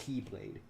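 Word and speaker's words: χ-blade: X/blade. Pronounced Keyblade.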